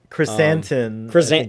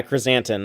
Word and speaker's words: chrysanthemum: the comic i never say it out loud chrysanthemum yeah chrysanthemum that's how you say it yeah the black